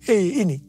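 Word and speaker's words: ה: yang terbentuk pada huruf He ini merupakan gambaran celah atau jendela mulut Tuhan yang menghembuskan rohnya perhatikan juga cara pelafalan huruf ini pun seperti orang yang menghembuskan nafasnya Hei nama Abram berubah menjadi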